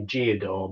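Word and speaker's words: Gedore: Since then, I've got a bit of Gdora, although locals around here say Giodor, but I think it's pronounced Gdora.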